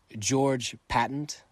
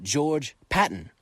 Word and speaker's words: George Patton: Who was George Patent? Oh, that's cuz I got his name wrong. Let me try again. Who was George Patton?